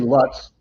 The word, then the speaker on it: Lutz: From downtown Lutz, Florida. or as Denise say, Lutz, which rhymes with Utz potato chips.